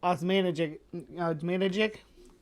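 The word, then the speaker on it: Osmanagić: Osmanagic, yeah.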